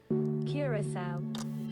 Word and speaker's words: Curaçao: When the idea of a Curaçao episode was first floated, I had to Google not just where it was, but how to pronounce it. Curaçao.